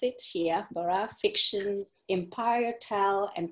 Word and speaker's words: Ciyaal: So my current project title or the working title is Ciyaal Baraf. So the C is silent, typically for most Somali words.